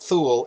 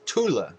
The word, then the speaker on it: Thule: And please don't mispronounce it Thule. It's not Thule, it's Thule.